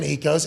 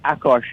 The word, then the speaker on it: Akos: But in England, I did not know we had this in London, Ecos. Am I saying your name right, by the way? Ecos? No, I think Mitt butchered that. But, yeah, it's Akos, A-K-O-S.